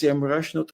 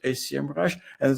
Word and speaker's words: Semrush: It's actually pronounced SEMrush, not SEMrush, and there's a history behind it.